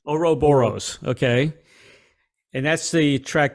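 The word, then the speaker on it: Ouroboros: I'm pronouncing this right is it europaros how do you pronounce that Oro Boris oroboros okay and that's the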